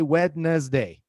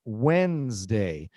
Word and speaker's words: Wednesday: Uh I have never heard anyone say wedness day for this day. Everybody says Wednesday. It's pronounced like Wednesday.